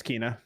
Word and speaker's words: Kena: It's Kena.